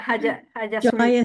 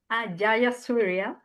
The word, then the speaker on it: Jayasuriya: pronounce. Yeah, Hajasuria. Jayasuriya. Haja, Jayasuriya. Jayasuriya.